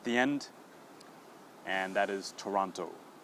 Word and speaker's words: Toronto: pronounced okay so uh if you do see the O at the end of the word we do pronounce it okay so for example